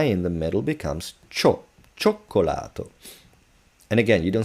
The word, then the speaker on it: cioccolato: No, double C, if it's preceded, followed by A O U, it's cacocu, but stronger. So, cioccolato.